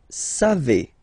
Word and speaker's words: savez: Then vous savez, classic ending for vous, EZ, but then phonetically it's et, vous savez, savez.